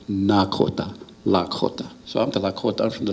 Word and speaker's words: Nakota: And to the east of us, across the Missouri River, they speak with a D, Dakota. And to the north across the Missouri, there's the Nakota, they talk with an N.